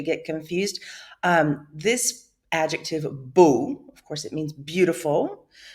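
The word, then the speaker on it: beaux: comes before the noun boo in the plural form now this is masculine plural b-e-a-u-x pronounced boo still comes before the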